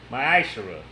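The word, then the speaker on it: מעשר: Means tenth in the Hebrew and is pronounced ma'ashara.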